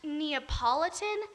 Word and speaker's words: Neapolitan: oh and it turns out that it's actually pronounced neapolitan and it's not even french but don't tell